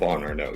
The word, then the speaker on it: Chauvin Arnoux: Chauvin Arnoux, yes. Chauvin. Yes, so, I was close. Yeah. Now, we'll never be able to pronounce it with its true French flair.